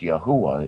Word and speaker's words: Yahweh: God or Yahweh or or more exact Yahweh is the per correct pronunciation for the Multiverse in